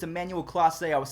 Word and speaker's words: Clase: I guess it's Emmanuel Clase.